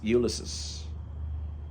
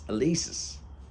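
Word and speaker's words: Élysées: do you want to go to Champs ulysis do you think they named it after James Joyce Dad it's elisis whatever Marcel you know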